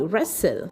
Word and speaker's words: wrestle: Next we have wrestling spelled as w r e s t l e wrestle and we pronounce it as r e s t l e wrestle and the sentence that we get is the boys are wrestling.